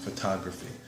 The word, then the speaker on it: photography: to photography photography so the the second syllable would have the intonation photography thought ographers yeah and last